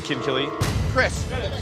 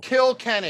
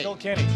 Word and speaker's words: Kilkenny: Kinkelly. You've got to be kidding me. Even when he took a look at the handle, he still pronounced it wrong. Kilkenny. Kilkenny.